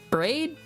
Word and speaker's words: Braid: Oh, is it Braid? That rhymes with trade?